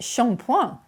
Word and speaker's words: shampooing: an exotic edge with Sean Point spelled like shampooing but pronounced far more glamorously the origins of this